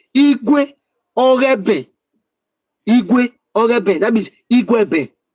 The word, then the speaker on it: Igueben: When we say Igueben, it's like Eloghosa, Ewato, Igwe Ogeben. That is how they pronounce it. They not corrupted it to Igueben. But in full, it is Igwe Ogeben.